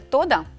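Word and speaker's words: תודה: Так, слово дякую – це тода? Тода. Тода. Все-таки наголос на останній склад.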